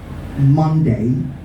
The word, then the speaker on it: Monday: one thing about english the o in that word will sound to some of you ups monday monday and another